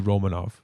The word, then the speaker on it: Romanov: my second one obviously romanov first of all romano and yeah what the is that actually for real yeah apparently he requested that that was the pronunciation of his name okay because i always think of romano cheese when he says that so i'm like uh